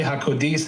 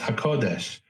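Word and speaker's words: הקודש: But when we see with a nobody could say hakodis is is a is an insult. He just doesn't know how to pronounce hakodesh or he doesn't know how to distinguish.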